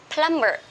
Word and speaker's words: plumber: spell but sorry but we don't pronounce lumber we say a plumber plumber one word that means